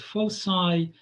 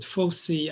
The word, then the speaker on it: foci: two fixed points called foci or some teachers pronounce it fosi i i'm not sure which one is correct and yeah i it's